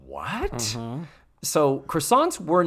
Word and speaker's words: croissant: Croissant.